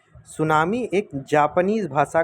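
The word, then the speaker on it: tsunami: सुनामी एक Japanese भाषा का शब्द है। सुनामी क्या है? एक जापानीज भाषा का शब्द है। जिसकी स्पेलिंग टी से शुरू होती है। टी एक्चुअली में साइलेंट होता है।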